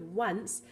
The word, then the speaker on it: once: are three WS but we actually have the W sound four times because we have it with once even though once isn't